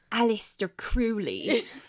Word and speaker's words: Aleister Crowley: Well, I mispronounce it. It's Aleister Crowley. Not really, but I'm going to call him Aleister Crowley because it's easier for me.